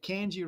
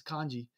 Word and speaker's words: kanji: if you look at kji right here sorry kanji I always I'm saying it wrong that's my cage and accent they the guys tease me because I say it wrong it's kanji uh so he comes